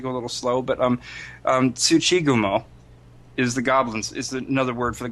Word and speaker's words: Tsuchigumo: I have to go a little slow, but Tsuchigumo is another word for the goblin spider. And from what she knew... Tachigumo, you said? Tsuchigumo. Tsuchigumo, okay. Yeah, goblin spider. Yes. I pronounce it goblin spider.